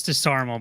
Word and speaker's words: DeSarmo: Yeah, that's DeSarmo, by the way, how you pronounce that.